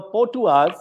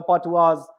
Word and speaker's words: Patuas: So, Ritu, the question that I had for you is that the Patuas, as you know, as we would pronounce it in Bengal, the A becomes O.